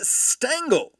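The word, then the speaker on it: Stengel: John McGra, Kid Gleason, Casey Stangle rhymes with dangle and Connie Mack.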